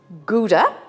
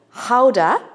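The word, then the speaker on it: Gouda: recipe a beautiful Dutch cheese we call it guda the Dutch pronounce it Howa and here in Ireland we've somehow merged it and we call this GAA so it probably hurts any Dutch person's ears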